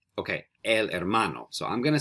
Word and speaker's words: hermano: Now, that was a little trick, but did you remember that when we see an H in Spanish, there's no sound? We don't pronounce the H. So it's not el hermano, it's el hermano.